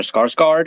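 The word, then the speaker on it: Skarsgård: would be Alexander scos Cod uh or Alexander scarg guard as you would pronounce it or he who played Robocop in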